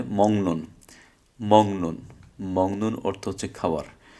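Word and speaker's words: 먹는: Mock নুন, মিয়ম মিয়ম গিয়ক mock, নিউন নিউন নুন, mock নুন। যে গিয়কের পরে নিউন আসার কারণে এটা গিয়কটার উচ্চারণটা অনুসার হবে। তাহলে কি হবে? মংনুন, মংনুন, মংনুন অর্থ হচ্ছে খাবার।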